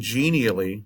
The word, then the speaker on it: Genially: So I'm using Genially, which is spelled like that, but the website is genial and then .ly.